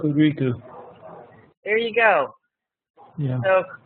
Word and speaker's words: Hokuriku: It's Lynn has lived in Japan, so I should probably let him pronounce the location in Toyama, Hokuriku, Japan. Hokuriku. There you go, boss. Huh? It's Hokuriku.